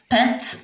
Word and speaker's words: peinte: إذا la façade de ma maison est peinte يعني مصبوغة. peinte EIN تقرأ ان.